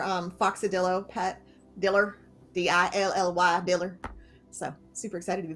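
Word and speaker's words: Dilly: about our our um foxadillo pet diller d-i-l-l-y dealer so super excited to be back it's a unique pronunciation but oh speaking of unique pronunciations evan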